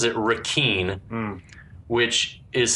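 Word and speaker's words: Requin: is he pronounces it rakeen which is spelled r-e-q-u-i-n which is the french word rakan which is the french word for shark badass yeah okay so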